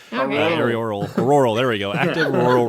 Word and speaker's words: auroral: is the high frequency active aerial Oriole, how do you pronounce that? Research program. Aerial, the lights, the northern lights, those things. right. Auroral, there we go.